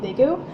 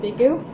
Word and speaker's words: Daegu: I've been knitting on that a lot anytime we take the train, because I'm actually in Daegu, and so I think that's how you pronounce it, Daegu.